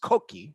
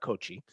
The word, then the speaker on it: Cocchi: three things you should know right off the top it's pronounced koki not kochi you might even hold that k in the middle just to get a little extra italian accent to it two these folks have